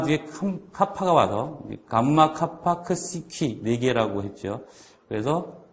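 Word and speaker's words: ξι: 거고 그 뒤에 있는 크시는 그 크 발음과 스 발음이 합쳐지는 거죠 크시 그다음에 그다음 옆에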